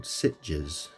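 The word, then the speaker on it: Sitges: Um and a place called Sitches. It's spelled Si Tes.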